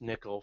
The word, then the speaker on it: N1QL: Um so on the left hand side you see this N1QL uh it's pronounced nickel for it's a pon uh non-first normal query language.